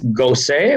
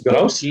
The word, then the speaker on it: Gros: rugby world cup jean-baptiste gosse or ghost i don't know how to pronounce it we're going to butcher many names tonight for anybody that's listening uh in the it's grossly ros isn't it oh gross gross not go say sorry uh he